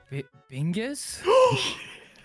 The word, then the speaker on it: Bingus: It rhymes with Ringus. Ringus. Or Wingus. It also rhymes with that. Bingus?